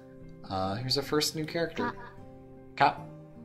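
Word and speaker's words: か: We pronounce these syllables the same way, but we put a ka, a K in front.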